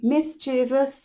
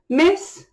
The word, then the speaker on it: mischievous: And it is a 1, 2, 3, mischievous, 3-syllable word. Mischievous.